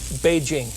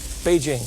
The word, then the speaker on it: Beijing: That's the way it's pronounced now. Beijing. Beijing.